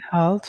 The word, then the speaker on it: health: good health for the health to eat to eat fresh fruit and fresh food vegetables. and vegetables. Let's repeat one word, health. Health. Yes. Be careful with your TH sound at the end, okay?